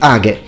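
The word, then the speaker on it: agite: Centurion mattelo says again to say act well it should be Agate the action should be at the beginning so there is another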